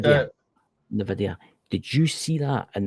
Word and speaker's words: NVIDIA: It's not pronounced Nevada, but I know what you're talking. NVIDIA or something like that. NVIDIA.